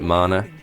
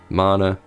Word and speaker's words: mana: from the UK and we call it mana so just just Asset just deal mana like banana well you seize the